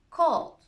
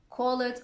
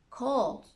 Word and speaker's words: called: past tense regular verbs we normally don't pronounce the letter e called it's not call it or call it called helped played here comes